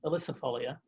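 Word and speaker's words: ilicifolia: kind of pale yellow is a cherry it's pronounced electrifolia elysifolia and um it does set cherries on it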